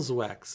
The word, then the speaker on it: Zwex: But the pronunciation of Zwex is still Zwex.